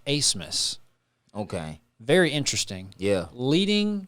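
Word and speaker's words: Abmas: is a b m a s but it's pronounced acemus okay very interesting yeah leading scorer in the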